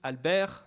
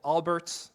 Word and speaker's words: Albert: using a French technology Alber or Albert to pronounce it the American way because why not um